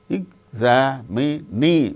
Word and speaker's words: examinee: In the case of the word examine, second syllable gains stress. In the case of the word examinee, examinee, fourth syllable gains stress.